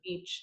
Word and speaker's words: niche: niche, whatever. I think it rhymes with rich.